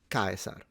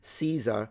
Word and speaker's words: Caesar: interest in this case, it's Gaius Julius with the U phonemic vowel length, it's long, Caesar. That's how they read it in classical Latin pronunciation. Caesar would be modern English adaptation, which is absolutely fine. And then Caesar is how we would pronounce it in ecclesiastical Latin, which of course would not be period accurate.